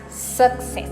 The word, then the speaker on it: success: remember this is that there is no suck in success success doesn't suck isn't it so pronounce it as success the second word is